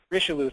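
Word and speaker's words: Richelieu: the L man or uh R Rico risho risho thank you and again it's a a seven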